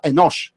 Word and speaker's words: Enosh: No era Enos como lo pronunció él, no era sal de fruta de Enos, era Enosh.